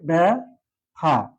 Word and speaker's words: ব্যথা: তাহলে কি হবে? ব্যথা বানানটা যদি আমি উচ্চারণ করি ব্যথা, ব্যথা, দুটি মুক্ত অক্ষর আছে, এখানে কোনো হর্ষোত্তর চিহ্নের ব্যবহার নেই।